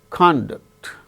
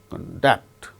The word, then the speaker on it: conduct: individual words okay now there are certain pairs of two syllable words with identical spelling in English they gain stress on first syllable when they are used as nouns or adjectives the second syllable is stressed when they are used as verbs for instance conduct conduct